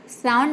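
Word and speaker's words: sound: इसका रूल है कि जब किसी वर्ड में वर्ड के बीच में अगर ओ यू हो तो वहां पे ओ यू को हम क्या प्रोनाउंस करेंगे आव प्रोनाउंस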